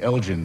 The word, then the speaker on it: Elgin: Parthenon, sometimes called the Elgin marbles, always pronounced wrongly in this country. It was Lord Elgin, in fact, hard G, that they had annexed in the 18th century.